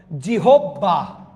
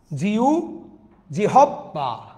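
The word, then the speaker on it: জিহ্বা: তিন নাম্বারটা দেখেন জিউবা শব্দের সঠিক উচ্চারণ কোনটি সঠিক উচ্চারণ কোনটি বলেন জিহববা জিউবা জিউভাহবা কোনটা কোনটা কোনটা আপনাদেরকে বলেছিলাম হ এর সাথে বফলা থাকলে উভ হয়ে যাবে সুতরাং রাইট আনসার কোনটা জিউভা রাইট আন্সার হচ্ছে গ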